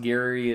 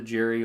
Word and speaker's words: Gerry: the name gerrymandering um i know it's pronounced gary it turned into jerry over time but um because he